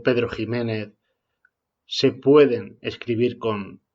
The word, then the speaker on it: Ximénez: un don quijote pedro jiménez méxico o texas porque sólo un ignorante pronunciaría don quixote méxico texas o pedro -que ximénez y vamos a ver por